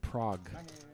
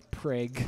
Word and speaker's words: Prague: probably win the pot how did you think you pronounced the city of prague so are we just picking everything we've ever gotten wrong because i have a list of your stuff you thought it was preg i have a list